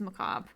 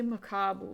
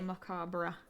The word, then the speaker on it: macabre: ignoring their Macabre declaration it's just Macabre I always have to say macabo in a weird way Macabre because that's how it's spelled damn it what is